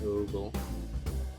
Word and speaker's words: ogle: Pronunciation. If it's ogle or ogle.